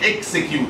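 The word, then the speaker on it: execute: خلاص، الفيرب نفسه اسمه اكسكيوت، يعني لما تيجي تنطق الفيرب تقول اكسكيوت، بتنطق اكس. لكن لما بنيجي نقول نجيب المشتق بتاعها اللي هو اكزيكتيف تنفيذي، بتنطقها زي اكزامبل، ماشي؟ بتبقى اكزيكتيف اوردر.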